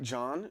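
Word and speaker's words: Jean: Gene is called pronounced like John. So it's like, oh, it's French.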